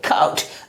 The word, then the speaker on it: caught: अगला example CAUGHT, क्या पढ़ेंगे इसे, काउट। अगला एग्जाम्पल TAUGHT, क्या पढ़ेंगे, चाउट। अब हम लोग मूव कर रहे हैं अगले साइलेंट लेटर की तरफ, यानी लेटर G साइलेंट लेटर।